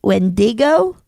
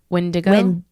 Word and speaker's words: Wendigo: How do you say when Wendig Wendiggo Wendigo Wendigo Wendigo? Okay, cuz this is Wendigo encounter possibly like Wendo. Wendigo. Wendigo. Yes. Wendigo.